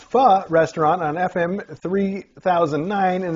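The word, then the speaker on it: pho: this ad is for a foe pronounced Fa Restaurant on FM 3009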